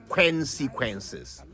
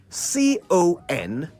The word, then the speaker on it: consequences: word consequences and how it really is not pronounced consequences oh you've heard that one too have you well perhaps it would help if we spelled the word out c-o-n-s-e-q-u-e-n-c-e-s consequences it means a result or effect usually